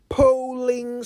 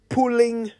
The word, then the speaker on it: polling: election year here's one repeat after me polling station polling station p p o l l i n g polling station not pulling station today say it right is for everyone especially my colleague journalists who sometimes say pulling station when they mean polling station interestingly the word poll